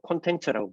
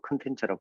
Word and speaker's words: 콘텐츠: 자, 이 컨텐츠인데 우리가 콘텐츠라고 부르기도 하고 컨텐츠라고 부르기도 하는데 한국식 발음은 뭐 두 가지 다 이야기하지 않습니까?